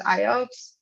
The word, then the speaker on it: IOPS: to operation it's basically operation per second and pronounced iops is an input output performance measurement we want